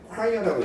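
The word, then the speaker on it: choir: 그 질문에 chr은 뭐냐면 우리가 크아이언 콰이어라고 읽어요 즉 성과 됩니다 합창단 성관이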